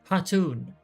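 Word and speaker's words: Khatun: Let us go to Dathal Ka and treat with their Hatun, because the K is silent.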